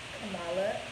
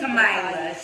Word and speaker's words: Kamila: And I have with me Miss Kamala, as we call her. Yes, the Kamila. She mispronounced it just a little bit.